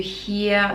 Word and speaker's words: hear: So again, in songs, you don't really pronounce this R at the end of the word, which is same as Australian pronunciation normally.